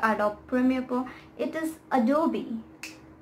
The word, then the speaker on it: Adobe: brand is this and i myself have been pronouncing it wrong all of the time it is not at all not adopt photoshop adopt premiere pro it is adobe adobe adobe it's not at all it's adobe now